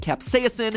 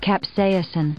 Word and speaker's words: capsaicin: the chemical capsaicin and yes i'm pronouncing it capsaicin because that's how miriam webster told me to pronounce it even though i have never once heard anyone in my life pronounce it that way capsaicin so if you